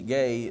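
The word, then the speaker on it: γῆ: the Greek word g gay spelled it's pronounced g a y but it's spelled GE and what it means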